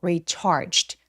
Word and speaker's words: recharged: recharge처럼 G-E로 끝나는 단어들은요. 마치 CH와 같이 비슷하게 발음할 때가 정말 많습니다. 동사 원형만 발음해 볼게요. recharge. 입술 열심히 나오는 거 보이세요? 자, 그리고 ED가 붙었으면 이런 소리에 D가 붙으면 recharged. 얘를 recharged 라고 소리내지 않아요. recharged 아니고 recharged. 마치 CHT처럼 자음 소리만 빠르게 성대가 울리지 않게 소리내주세요.